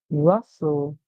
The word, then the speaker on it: rustle: And the T is silent, like I told you. A lot of words in English, the T is silent. So we hear rust. And the LE makes the sound O. O. So together our word says rustle, rustling.